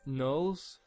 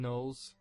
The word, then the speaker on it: gnolls: it, and I say gnolls, but some people say gnolls and people say other things, but I've always called them gnolls, and just kind of like the G is silent, like in gnome.